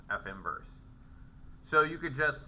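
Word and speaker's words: f⁻¹: say that right because I keep saying it's pronounced F inverse it's not really F to the1 power it's pronounced F inverse so you could just say um you could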